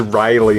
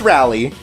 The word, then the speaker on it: Rally: I never knew before this kid's name was rally I always thought I was Riley and they just pronounced it really weird in the anime no its rally thank God so the story again is sort